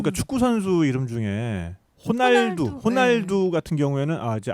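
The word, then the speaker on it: Ronaldo: 그게 이제 포르투갈식으로 발음하면 호날두인데 이거를 같은 이름이지만 브라질식으로 발음하면 호나우두가 되고요. 아, 호나. 아, 그러네. 네네. 리을 받침은 우로 이렇게 풀어서 읽는 경우가 많아서.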